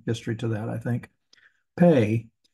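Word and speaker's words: פ: it's going to be p is in Papa or without the dog Ash it's going to be a PA H or f f sound and it also has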